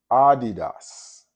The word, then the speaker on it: Adidas: Like, for instance, the word Adidas. The correct pronunciation for that word is Adidas. And that's saying it with the pure vowel sound.